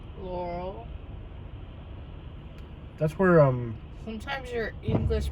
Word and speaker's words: Laurel: How's it pronounced? Laurel.